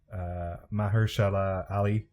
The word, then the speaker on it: Mahershala Ali: And I'm looking forward to rewatching season 3 in a year or two, because I think Mahershala Ali, that's how you pronounce his name.